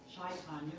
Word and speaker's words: Chaitanya: you might be wondering what shaitanya which is a good way to pronounce it or chase on it either way refers to the